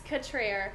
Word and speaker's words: Cutrer: Right, it's Cutrer. Cutrer. And I like to say it is sophisticated French. But it's really actually country Mississippi.